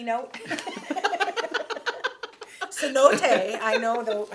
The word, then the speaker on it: cenote: Skies you can swim in the C note Cenote I know how to pronounce that now because I just spoke to